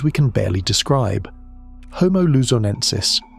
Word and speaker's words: luzonensis: Homo luzonensis, pronounced Luzon ensis, was announced in 2019 by a team led by Florent Détroit.